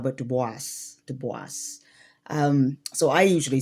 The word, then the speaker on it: Du Bois: So not duba but dubis dubis.